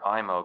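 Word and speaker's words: Eyemo: And I rented a 35mm IMO camera, that's spelled E-Y-E-M-O, which is a spring-wound camera, produces a professional picture.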